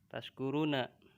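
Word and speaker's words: تشكرون: Tashkuruna. Kok ada benar. Tashkuruna ya. Ini. Jikalau ini artinya mudah-mudahan ya kamu bersyukur. Apabila lafadz tashkurun, nih. Lafadz tashkurun ini diganti ataupun dihilangkan bacanya bukan sya tapi sin.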